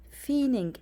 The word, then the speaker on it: feigning: In the workplace, they had no intention of feigning, the G here is silent, feigning interest in the more traditional careers.